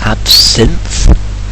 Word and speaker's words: absinthe: just pronounce it is absinthe as in like it's sin because um so that's